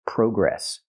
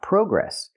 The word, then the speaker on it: progress: The word is not pronounced progress. It's pronounced progress. In America, we use the open a sound like hot and stop. Progress. We don't use the long o like no and go.